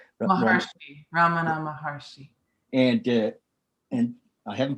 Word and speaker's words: Ramana Maharshi: muji and uh ramana maharaja how do you say his name ramana maharshi and uh and i